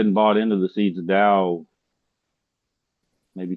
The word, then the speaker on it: Tao: It's pronounced Tao with a D.